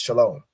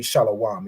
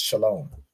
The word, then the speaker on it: Shalom: word shalawam or this it would really be pronounced Shalom right because this W isn't it's not a consonant it's an added vowel so even in this it wouldn't be shalawam it would be pronounced